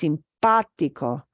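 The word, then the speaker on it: simpático: syllables but it's not pronounced simpatico simpatico is pronounced sympatico simpatico so we need to put the the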